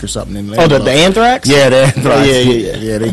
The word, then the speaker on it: Anthrax: up special he like you learn to say it right is it's Anthrax not that amra got that amra that am tracks Ah